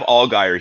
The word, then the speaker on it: Allgaier: Allgaier.